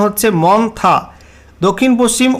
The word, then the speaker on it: Montha: আলিপুর আবহয়া দপ্তর জানাচ্ছে ঘূর্ণিঝড় মন্থা যার উচ্চারণ হচ্ছে মন্থা।